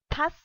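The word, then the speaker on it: tasse: So we have tas, and though e is not pronounced in the end.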